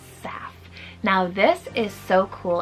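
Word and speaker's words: Seph: and one syllable sweet name SEF spell s e p h SEF now this is so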